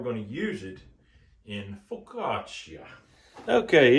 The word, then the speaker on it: focaccia: would you say it with a typical Italian pronunciation the way they would say it in Italy itself focaccia now this this ham